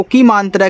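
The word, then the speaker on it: come: तो यहां देखो ये कम लिखा है तो यहां पे आ के रूप में हुआ है। ठीक है? तो यहां पे यम से आपका म और लास्ट वाले इ का उच्चारण नहीं होता।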